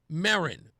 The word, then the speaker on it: Merryn: It was promoted by a young woman by the name of Erin Merryn. Merryn's last name is spelled M-E-R-R-Y-N, like Mary and N.